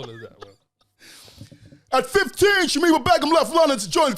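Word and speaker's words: Shamima Begum: it's Shemima Begum.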